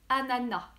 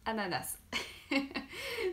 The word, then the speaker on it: ananas: prévention que correcte et à nana ok donc normalement on prononce pas le s ont dit à nada même si j'avoue que moi je dis ananas donc c'est pas bien